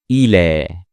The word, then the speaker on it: إلى: And here we will only pronounce the alif, not the ya. The ya is just a chair for the alif. So we say إلى إلى.